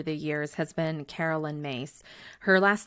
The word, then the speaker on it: Myss: One of my favorite spiritual teachers over the years has been Carolyn Myss. Her last name is spelled M Y S S in case you've